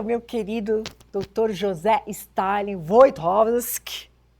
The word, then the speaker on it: Wojtowicz: Nem sei o que falar, mestre, doutor, filósofo, professor, meu querido doutor José Stalin Wojtkowski. Pronunciou corretamente o Quantos meu nome, né?